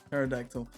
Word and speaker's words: pterodactyl: I would like to point out, Big B, you do pronounce the P in pterodactyl. It's just really hard to say it.